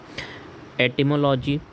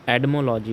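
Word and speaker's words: etymology: एटिमोलॉजी, एडमोलॉजी, इसको कई बार हम एटिमोलॉजी या फिर यूएस प्रोनाउंसिएशन, अमेरिकन प्रोनाउंसिएशन में एडमोलॉजी भी कहते हैं। टी को डी के साउंड पे डा, एडमोलॉजी।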